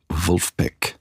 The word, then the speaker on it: Vulfpeck: by a group called Wulpek first the name Wolfpack is a bit strange i think it's someone kind of pronouncing Wolfpack the same way a German would something like that anyway